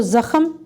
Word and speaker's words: زخم: ترتیب سے لکھیں گے۔ ز کے اوپر زبر ہے تو زخم، کاف کے اوپر زبر